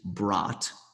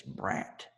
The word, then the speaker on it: Brat: forced to deal with is brought which I know all y'all Americans tried to say is brat but it's BR like the delicious sausage from Germany and it's blame reparations